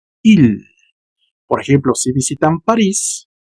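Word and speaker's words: île: Entonces, la pronunciación sería il.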